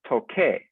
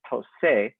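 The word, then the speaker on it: toqué: Because the original infinitive form has a k sound, you must change the C to a QU so that it's toque. If you do not, and you leave it as a C, it would be pronounced as tose, and that is not consistent with the pronunciation of the verb.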